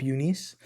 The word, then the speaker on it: Junis: Eunice is the one, or Jacob Junis, that's how they say it. But I really feel it's like Jacob Eunice. But whatever, Jacob Junis. He pronounced it as jaundice.